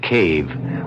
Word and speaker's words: cave: For myself, I equate cave with the Latin word spelled the same way, C-A-V-E, but pronounced cave. It means beware.